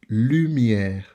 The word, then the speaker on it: lumière: Remember, it's not lumière, but lumière. U, lumière.